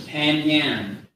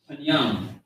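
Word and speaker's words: פנים: Some people may think that this is Panyan, it's Panyam.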